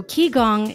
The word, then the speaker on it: qigong: interview with anita vida my very first medical key gong practitioner guest so if you're wondering you're listening going i don't even know how to google that let me spell it for you so ki gong is q i g o n g okay